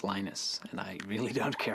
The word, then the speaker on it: Linus: I speak Swedish it's heinous when I speak Finnish it's Lino's when I speak English its Linus and I really don't